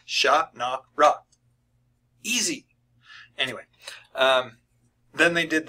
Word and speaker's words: Shannara: I'm sitting there going, there is no E. Why are you pronouncing the second A as an E? It's not Shannara. It's Sha-na-ra.